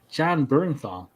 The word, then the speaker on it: Jon Bernthal: And we're going to talk about the Punisher, Jon Bernthal.